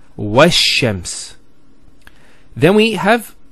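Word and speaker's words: والشمس: Similarly, this lam is not pronounced either, because as we said, this is from the sun letters, and there's a shadda there, so it's wash-shams.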